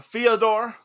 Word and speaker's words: Fyodor: Bo, can you check me on that pronunciation? I know you're fluent in Russian. Yeah, Fyodor.